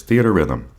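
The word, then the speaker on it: Theatrhythm: final bar line and I finally learned how to say this game's name after hearing people play it or hearing people talk about it is theater Rhythm so really makes sense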